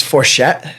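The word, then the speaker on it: Forgete: But it's it's also in part because my last name is Forchett, right? But it's spelled F O R G E T E.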